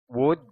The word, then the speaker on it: would: Tapos itong L, hindi nyo ibibigkas. Naka-silent L. Pag sinabi kong silent L, hindi nyo ibibigkas yung particular na letra. At yun nga yung L. Okay? Kaya ito muna, woo.